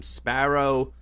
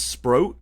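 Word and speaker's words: Sproat: I've called him Sparrow. It It's Sprout.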